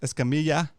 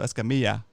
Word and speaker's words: Escamilla: has a double l that l is pronounced like a like a like a y sound in english like a yeah so you have tortillas and in this case escamilla so lla at the